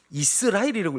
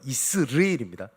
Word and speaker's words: 이스르엘: 이스라엘이라고 읽으시던데 정확한 발음은 이스르엘입니다.